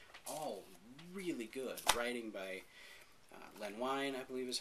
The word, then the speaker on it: Len Wein: Writing by Len Wein, I believe is how you pronounce his name, with art by Jay Lee on Ozymandias.